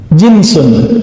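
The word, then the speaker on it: جنس: Jinsun, jins. Pakai jins nggak, Pak? Itu beda lagi ya. Jins itu bacanya ya. Kalau ini jinsun, jim nun sin.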